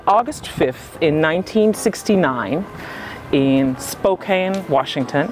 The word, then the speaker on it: Spokane: 5th in 1969 in Spokane Washington am I saying it right spoken Spokane Spokane Washington yeah um actually a location